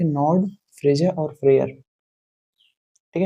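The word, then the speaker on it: Freyja: नड और दूसरे थे फ्रेया इनकी स्पेलिंग ऐसे लिखी जाती है फ्रेजा ठीक है और तीसरे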